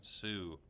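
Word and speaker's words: Sault: our holiday tomorrow on the long Sue it's spelled s a u LT but I'm guessing it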